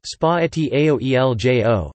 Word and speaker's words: Spaghetti aglio e olio: Spaghetti aglio e olio, pronounced spaghetti aoeljo, Italian for spaghetti with garlic and oil, is a traditional Italian pasta dish from Naples.